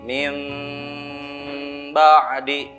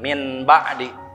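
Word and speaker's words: مِنْ بَعْدِ: Sekali lagi cara bacanya jadi mim ba'di, jangan min ba'di, karena hukumnya iqlab.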